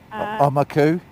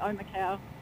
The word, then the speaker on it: Omakau: Is there a Maori pronunciation? Omaku? No, it'd be Omakau.